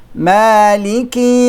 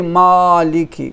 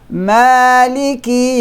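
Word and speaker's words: مَالِكِ: Don't say Maliki. No. Neither say Maliki. That is too much. You're leaning towards the kasra. No. Maliki Yawmiddin. So we elongate these 2, 4, and 6 since we start with sukoon.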